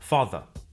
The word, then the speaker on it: father: father father car car notice that the final R sound is not pronounced in British English father ends in a simple schwa vowel like father and in car the vowel sound is lengthened in place of the r sound car now the thing about